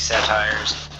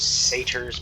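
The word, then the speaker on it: satyr: a fight against these satires I think it's actually pronounced satar but I always said satires and it's hard to break myself for that habit so I'll be using the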